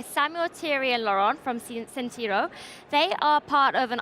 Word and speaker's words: Sentryo: I pronounce it correctly because it's a French one, so it's Sentryo. Is that correct? Correct. Thank you. So I'm joined by three guests. I'm joined by Samuel, Thierry, and Laurent from Sentryo.